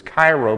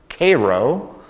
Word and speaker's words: Cairo: would look at his Cairo but in Illinois we don't pronounce it that way we pronounce that word Cairo and the Cairo is